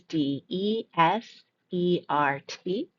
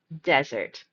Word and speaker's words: desert: This word here is d e s e r t. And the first pronunciation will stress the first syllable. Desert. Desert.